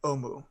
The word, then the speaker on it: Omu: It's pronounced uwu. RinRin, dear, it is Omu, the forbidden city, the lost city. I was always told it was uwu.